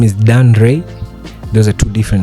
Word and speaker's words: Dan Rei: So my name is Dan Ray. Those are two different names. Dan Ray. Spell it out. Spell it out. Dan is just simple Dan and Ray is just R E I.